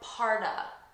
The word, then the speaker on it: part of: Okay, here, notice I'm not saying part of Germany. When we have the preposition of between 2 nouns, we pronounce it as a, and we connect it to the first noun. So I'm actually saying, what parta? What part of Germany? Parta. Repeat, parta.